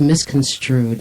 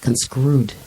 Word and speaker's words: misconstrued: It's misconstrued. It's not conscrewed.